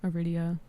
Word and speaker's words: Aridia: just kept the username Aridia. Mhm. Pronounced like that's a Say that again. Pronounced like chlamyia.